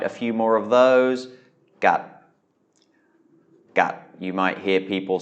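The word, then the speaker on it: กัด: So we have a mid-class consonant and then a stop final. So that's a dead syllable. So it is a low tone, gat.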